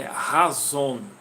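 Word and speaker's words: חזון: Mais ou menos a pronúncia aí de azul é razon, certo? Essa é mais ou menos a pronúncia.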